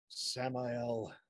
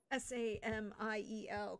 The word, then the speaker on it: Samael: Samael. Oh, I'll spell it. Samiel, correct? No, A-E-L. Ael. Samael.